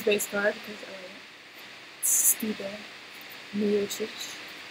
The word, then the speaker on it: Miocic: Miocic. That's how I say it in my language, which is close to his language, so I'm going with it.